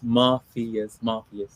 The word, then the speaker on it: Muffius: Everyone gets it wrong, but it's Muffius.